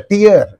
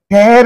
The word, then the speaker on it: tear: so something like that it's a tier okay you have a teer this is the transcription TI and here this is the tear tear means what to rip or to Rend if a tiger comes across you it will never leave you it will Rip you into pieces it will tear you into pieces ch ch that is